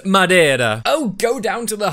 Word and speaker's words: Madeira: And it's pronounced Madeira.